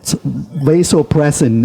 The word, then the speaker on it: vasopressin: And then there's a hormone called vasopressin, which is the bonding hormones, which has been found in certain animals that when they really... What is it? It's vasopressin is the English pronunciation, VASSOPROAS, and they injected